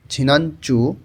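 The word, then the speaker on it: 지난주: আসি আমরা লেখা আছে ঝিনাঞ্চু নিউন ভাতমের পরে যখন জিউত আসে তখন ওই জ এর উচ্চারণটা অনেকটা চ এর মতন শোনা যায় উচ্চারণটা শোনা যাবে ঝিনাঞ্চু গত সপ্তাহ ইবনু এই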